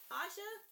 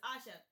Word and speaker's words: Asha: Your fan, Asha, because it's pronounced like Tasha, but it's without the T, so it's Asha.